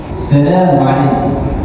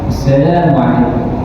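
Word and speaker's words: السلام عليكم: Nah, itulah karena tetap ada kalimat-kalimat atau kosakata-kosakata orang Arab yang ada alif bertemu apa ketemu alif kasu ya itu pasti orang Arab membacanya panjang. Contohnya assalamualaikum assalamualaikum hal kalau Arab pasti dia gitu.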